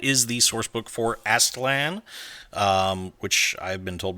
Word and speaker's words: Aztlan: books and that is the Source book for astlan um which I've been told by Google is how you pronounce this name I've been pronouncing it incorrectly